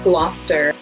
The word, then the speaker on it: Gloucester: And then similar to Worcester is Gloucester and Leicester. They both have that CES combination that Wooster does that you kind of just smoosh all together.